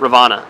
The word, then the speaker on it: Rivanna: Rivanna, is that how you say it? Rivanna? Yes. Rivanna. And so Audra picked it out for us.